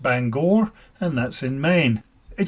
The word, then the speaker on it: Bangor: lot of time in the place that is pronounced Bangor and that's in Maine it took a while